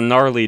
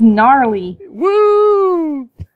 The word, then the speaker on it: gnarly: he built this it's gnarly you know I always call him gnarly but I guess it is just gnarly Vegeta the g is silent like the U in milk um that's what my